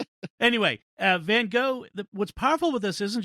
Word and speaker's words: van Gogh: van gogh got and i'm gonna say van gogh because that's just how i've always said it because the standard american pronunciation even in this episode